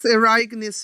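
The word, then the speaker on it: Ereignis: eragness as you say ireneus is that how you say it yeah it's erikanes it's uh it's from heidegger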